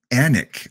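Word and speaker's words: Alnwick: and we got a uh it say it anik okay anik that that's pretty pretty easy there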